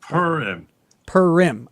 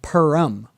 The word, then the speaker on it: Purim: Purim. Okay. There's like a town. Like a cat purring? Yes. And then im. So there's a town nearby called Purim. Yeah. Like it's right here.